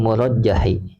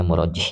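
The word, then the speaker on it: مُرَجِّح: Kemudian fa'alal murajjahi dan maka atas pendapat yang diunggulkan murajjah. Saya ulang ya, ini bacanya murajjih ya.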